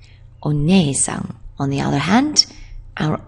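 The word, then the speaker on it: お姉さん: She's interested in horses, so we can give a horse's neigh to remember that she is onei-san, onei-san.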